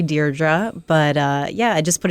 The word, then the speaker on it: Deirdre: I just always put it in there just in case somebody did say Deirdre. It's definitely Deirdre.